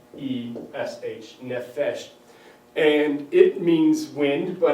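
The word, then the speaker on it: nefesh: wind is nephesh right you pronounce that n-e-f-e-s-h nephesh and it means wind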